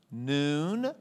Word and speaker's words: Nun: Noon, spelled like a nun, but we're Protestants, so it's noon.